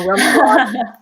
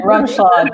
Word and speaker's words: Rumschlag: She is, and I don't want to get this last name wrong. Rumschlag. You got it. Rumschlag.